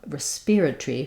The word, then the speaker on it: respiratory: both of our pronunciations they also do have a pronunciation that's stressed on the rest uh which is rest respiratory respiratory but it still keeps that